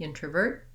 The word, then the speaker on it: introvert: If my next word starts with a vowel, for example, the introvert is, then I do say that T in the form of a flap. Sounds more like a D.